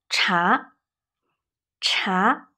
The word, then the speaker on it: 茶: 咖啡咖啡咖啡 Tea is 茶茶 Resin tone.